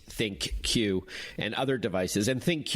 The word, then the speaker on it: ThinQ: the key differentiators between the LG g 8 think cue and other devices and thank you we should tell our listeners is spelled thi n cue and that's a name